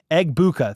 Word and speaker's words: Egbuka: Egbuka.